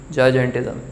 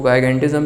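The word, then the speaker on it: gigantism: जिसे कहा जाता है जायजेंटिज़म। इसको गायगेंटिज़म भी लोग कहते हैं, जायजेंटिज़म। वैसे अगर हम लोग इंग्लिश के अकॉर्डिंगली देखें तो this would be pronounced as जायजेंटिज़म या जायगेंटिज़म।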